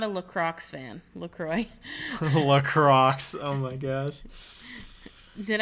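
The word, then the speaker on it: LaCroix: in between us and he goes um it's pronounced lroy man and we're like uh we know L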